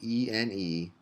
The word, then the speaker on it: ene: And those are pronounced ene and ine.